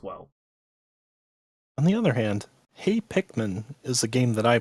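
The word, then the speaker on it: Hey! Pikmin: in VR as well on the other hand hay Pikmin is a game that I played please say it correctly hey Hickman thank you okay the official mail yeah with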